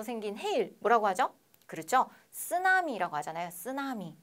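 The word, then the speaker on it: 津波: 쓰나미라고 하잖아요. 쓰나미. 네, 쓰나미가 아니라 뭐라고요? 쓰나미, 쓰나미라고 합니다. 네, 여러분 발음하고 계시죠? 쓰나미, 쓰나미 아니에요. 네, 자, 일본어인데 그렇죠? 이상하게 우리나라에 들어오면 쌍시옷으로 발음이 난다.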